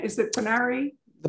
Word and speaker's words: Pinarii: The Pinari, how do you pronounce it? Is it Pinari? The Pinarii.